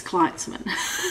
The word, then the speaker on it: Gleitzman: I think it's Gleitzman because of the way it's spelled, who also is an